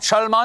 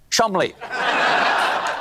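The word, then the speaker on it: Cholmondeley: me the maress of Chand what a beautiful name that I'm being told right now that I pronounced incorrectly it is in fact pronounced Chum Counterpoint no it's not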